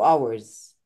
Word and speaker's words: hours: I haven't drunk anything 2 hours. يعني ايه 2 hours؟ تو يعني انا عرفت يوتيوب الانجليزي، يعني تو يعني hours. ما اسمهاش hours، اسمها hours. ال H silent، ال H مش بننطق.